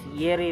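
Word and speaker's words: Jireh: Minsan po is ganyan po yung spelling pero yung pronunciation niya is Yireh po.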